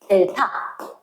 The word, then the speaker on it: 델타: 세모처럼 된 걸 뭐라고 읽을 거냐면 델타 다른 교로 델타 이렇게 읽을 거거든.